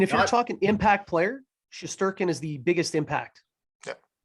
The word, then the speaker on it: Shesterkin: Shesterkin, yeah.